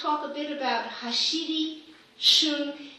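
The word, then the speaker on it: 旬: In terms of nature's bounty, I want to talk a bit about hashiri, shun. It's unfortunate that in English there's not an umlaut, So it's pronounced shun instead of shun, which would mean to avoid.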